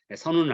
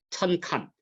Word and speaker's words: 單于: 근데 이제 발음이 이상하게 돼가지고 선우라고 발음하는데요. 선우는 아니고, 그 북경대 교수 가운데 흉노사를 전공한 임간이라는 사람은 이 선우라는 발음을 하면 안 된다. 이것은 북방민족들의 왕호인 천칸. 돌고래 그 왕호가 천칸입니다.